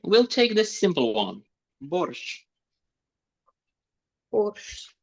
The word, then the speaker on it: борщ: Borshch. Borshch. It's obvious, right? Borshch. Borshch. Borshch. Borshch. Borshch. Like train. Borshch. But not soft one. You are softening it. Borshch.